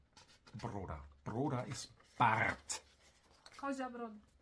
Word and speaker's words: broda: Ne, das R mit Br. Broda.